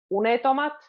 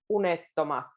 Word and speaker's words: unettomat: Sekä unettomat, again with the double T, it's a difficult one to kind of explain how to say it, but you can hear the difference if I say unetomat or unettomat.